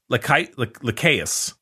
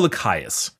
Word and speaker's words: Lycaeus: So anyway, his homeworld is just impossible to pronounce. Lycaeus. I'm gonna go Lycaeus.